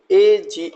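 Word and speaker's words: age: सबसे पहला वर्ड आपके सामने है ए जी ई। इसको या ई लेटर जिसको हमने ब्लू कलर से दिखाया है, इसका प्रोनाउंसिएशन नहीं करना है, इसको बोलेंगे एज।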